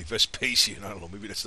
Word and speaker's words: Vespasian: stock like VES pacian probably saying his name wrong but there's another way to say that I think in Latin but I always say the English way Vespasian I don't know maybe